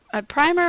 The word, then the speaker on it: primer: And that's basically, is this a primer or a primer as some people pronounce it, or a reading textbook, which are basically the same thing, or related material.